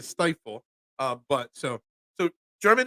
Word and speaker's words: Stiefel: well my German name stifle is very hard um Everybody mispronounces right there stifle because the way it's spelled it should be pronounced steifel uh but our name got Americanized to stifle uh but so so